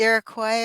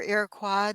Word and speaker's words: Iroquois: All of Western Europe and also the Iroquois or Iroquois, depending on how you pronounce it.